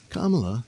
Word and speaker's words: Kamala: Kamala will be... Uh-oh, I said it wrong, didn't I? It's Kamala.